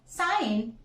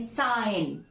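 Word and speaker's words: sign: next ji before N G before N एज साइन एज सिग्नेचर इफ यू आर सेइंग साइन साइन so here we are just having the जी साइलेंट हमारा next rule है friends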